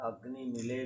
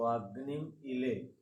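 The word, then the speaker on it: अग्निमीळे: ओ अगनि मड़े पुरोहितम इसका उच्चारण इस प्रकार भी होता है अगनि मिले भी बोलते हैं तो अग्नि इले अड़ अग्नि मिले पुरोहितम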